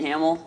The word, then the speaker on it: Hamiel: but I am Hamill I am a yes it's pronounced Hamill I'm a principal consultant